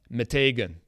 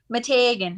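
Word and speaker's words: Meteghan: that i say often matagan because when anyone brings it up i say it like that mitiga because that's how i've heard it pronounced okay we're talking about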